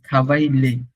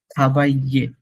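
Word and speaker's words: travailler: আচ্ছা, এটা প্রনাউন্সিয়েশনটা হাবাইয়ে, নট থাবাইলে। থাবাইলে হবে না, ইটস থাবাইয়ে, থাবাইয়ে। কেন থাবাইয়ে হলো এটা? বিকজ কোথাও যদি আই ডাবল এল ই দেখেন, in that case double এলটা silent হয়ে যায়, এক্সেপ্ট উইল।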